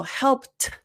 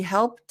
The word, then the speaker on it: helped: there you realize like oh okay so helped but because of the linking it's not aspirated because it has to link to uh because we have the consonant sound t followed by a vowel sound uh so that means that